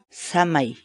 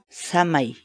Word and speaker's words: samay: uma série vídeos onde nós ensinamos você a pronunciar determinadas palavras em Quechua portanto a nossa palavra do dia para hoje é Já chamei Já chamei Já chamei fala em português a palavra quichua chamei significa